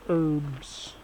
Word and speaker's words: herbs: let's go look at the herbs with the silent h i uh do my